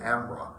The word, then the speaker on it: Embarras: River which is spelled when you read it it looks like it's it's embarrass but they pronounce it Amra.